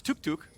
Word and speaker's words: Toucouille: and then you have toucouille, who is especially known as Tuk Tuk. Yeah, it's spelled differently, but the pronunciation's identical, basically.